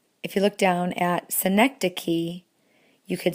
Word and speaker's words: synecdoche: We do need to talk about metonymy, and then number 29, which is pronounced synecdoche.